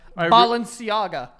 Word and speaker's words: Balenciaga: it right I really sang the name right Balenciaga I used to say Balenciaga no that's how